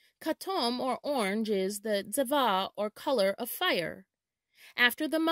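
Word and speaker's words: צבע: The Hebrew word for color is tzeva, tzeva.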